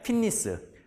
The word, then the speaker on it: fitness: 현 세대의, 앞에서 번역해, 현 세대의 피트니스는 건강, 우리 휘트니스라고 하는데 개망이죠. 발음 개망입니다. 피트니스.